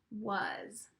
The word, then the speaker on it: was: were you correct yes it is spelled start with the W but then that a and the s you don't really hear those sounds was a special word W a s was